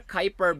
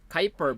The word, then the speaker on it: Kuiper: is pronounced as your kuiper belt kyper belt all right so pronounced yeah but this is pronounced your kuiper belt all right so short